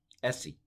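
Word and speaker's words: δεήσει: but uh the essay Essie so Delta at the time of the New Testament was pronounced the I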